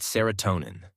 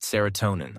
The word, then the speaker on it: serotonin: When the experiments were good, we called it serotonin, Brody recalled. When I heard it pronounced serotonin, I knew the experiments were bad, and I stayed home.